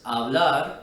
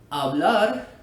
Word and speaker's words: hablar: Well, the letter H is actually always silent in Spanish. That's why we pronounce the words hablar and hermano the way we do and not hablar or hermano. This simply isn't right because in Spanish, the H is always silent.